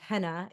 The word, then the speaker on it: Henna: I am named Henna. I was born in the 80s. Hanna Barbera was all the thing. And so people were mispronouncing my name.